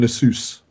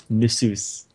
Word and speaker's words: Nasus: Nasus and Fiddle. That's how you say it. Nasus? It's Nidalee and Nasus. Nasus.